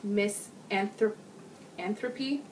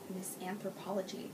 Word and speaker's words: Miss Anthropy: Post 378, Miss Anthropy Knits. Oh, I always pronounce it Miss Anthropology. That's so not right.